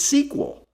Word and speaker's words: SQL: of the language said we can simply remove the vowels and still pronounce its sequel they also dropped the